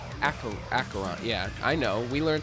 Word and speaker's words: Acheron: In case you were wondering, Acheron is pronounced Acheron.